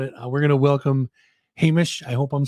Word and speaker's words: Hamish: I am about it we're going to welcome Hamish I hope I'm saying it right and if